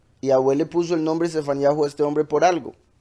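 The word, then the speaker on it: צפניהו: El nombre de Sofonías, el profeta Sofonías, en realidad se pronuncia Sefaniyahu.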